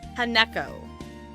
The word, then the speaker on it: Hanako: Haneko. Equal stress on each syllable.